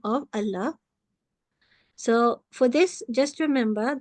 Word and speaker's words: Allah: was also thick uh however in the word Allah is pronounce thin if the letter before carries a casra so again Allah's name is here and this lamb will be pronounced thin even though it looks the same but it is because of the KAS beforehand so with this we